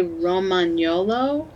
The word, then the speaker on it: Romagnolo: correctly he's a legato Romick Nala probably I would say romagnolo Rahm okay just because like champagne the GN sound in oh yeah you're